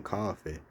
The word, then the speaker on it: Coffey: I didn't know it was supernatural, but this guy named John Coffey, he had it's like the drink, but it's not spelled the same.